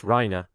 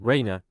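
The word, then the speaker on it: Rainer: I told you before, it's pronounced Rhina, not Raina, he said.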